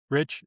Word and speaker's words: Risch: Mitch McConnell's 83, uh, Jim Risch, is that how you say his name? The Idaho guy, Rich. 82. Rich, it is just Rich.